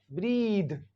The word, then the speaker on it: breathe: मी ब्रेथ ब्रेथ ब्रेथ और अगर टी एच के बाद ई लिखा हुआ है तो इसको पढ़ेंगे ई का साउंड भी चेंज हो जाएगा यहां पे ई का साउंड हो जाएगा लॉन्ग ई यानी यहां पर ई को पढ़ेंगे लॉन्ग ई जैसे कि एम ई ई T meet क्या पढ़ते हैं एम ई ई T meet तो यहां पर पढ़ेंगे बी आर ई ए को ब्रीद क्या पढ़ेंगे ब्रीद तो यानी ये ई